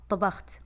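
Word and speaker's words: طبخت: আনা মা তবাখত, এখানে আরবিতে তা হয়, কিন্তু বাংলাতে কিন্তু এই শব্দটা নাই। তো আমরা কি করব? আমরা বারবার শুনবো আর বলার চেষ্টা করব যেন আমরা ঠিক সেটার মতোই বলতে পারি। আনা মা তবাখত, তা, তা, তবাখত।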